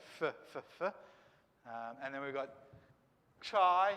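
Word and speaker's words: chi: and then we've got chai here as well and this is a a ch kind of sound like loch and if you afrikaans or something like that you might be able to hook it up a bit better than i can right but it's that kind of sound that ch this will be the first letter of christ for instance you know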